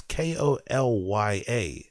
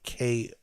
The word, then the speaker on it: Kolya: It's Kolya, not Koyla. That's how I'm pronouncing it, right? I'm pronouncing it like Koya. Like I'm pronouncing it like it's some African name when it's like Kolya.